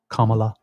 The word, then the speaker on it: Kamala: me about the pronunciation it's Kama like comma Kamala so somebody was mention